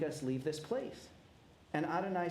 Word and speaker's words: Adonai: my most intimate name y he V what we pronounce as Adonai you can have all